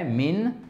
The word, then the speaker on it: mean: Mean. Et ça se prononce comme un I.